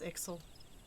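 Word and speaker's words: Ixal: it would seem an ixel and no ordinary ixel either a Chieftain I was saying it wrong it's ixel anyway glad I can't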